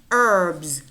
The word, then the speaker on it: herbs: plays Xerox Xerox herbs herbs notice how the each is not pronounced in this word herbs closet closet possess possess